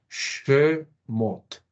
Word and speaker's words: Shemot: Mem como una M, aquí tenemos la Holen con su madre de lectura, entonces la vemos la O larga, y la letra final, la Tav, que se lee como una T.